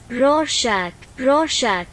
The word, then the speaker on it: Rorschach: ठीक है, तो इस वर्ड को प्रोनाउंस कैसे करना है आप इस पे देख सकते हो गूगल ट्रांसलेट में। रोशैक तो इसको कहते हैं रोडसैक।